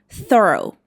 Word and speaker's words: thorough: It should be pronounced like thorough.